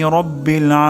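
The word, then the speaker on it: رَبِّ: আলহামদুলিল্লাহি তারপর শব্দটি হলো রব্বিল রব্বিল এখানে র মোটা হবে রাব্বিল হবে না রব্বিল হবে আলহামদুলিল্লাহি তারপর আলামিন এখানে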